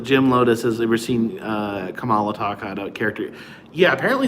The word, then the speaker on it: Kamala: Kamala, it's pronounced. Is it Kamala? The new Biden's vice president, but not vice president yet, but vice running mate. Joe Biden's running mate. Her name is not pronounced Kamala. That's not the same. It's Kamala. Kamala. Not Kamala, the Ugandan giant. Kamala, the Democratic vice presidential pick. It's spelled the same way, though.